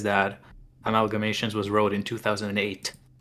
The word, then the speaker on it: AmAIgamations: says that Amalgamations was wrote in 2008.